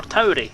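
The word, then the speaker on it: Tauri: blue is Big Ring the correct pronunciation of the system I am in is Tori like Taurus the Bull like what the like what the constellation systems in Tori so it's 39 Tori but you can pronounce it to or toy if you want to you'll get slagged off by people who prounce it the other way you can say it that way if you like if you're a Stargate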